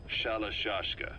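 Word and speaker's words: Shalashaska: the time I got to hearing about it pronunciation that wound up as shallow shashka saw half gulag half hero's sword is a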